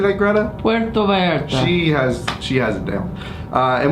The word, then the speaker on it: Puerto Vallarta: Puerto Vallarta.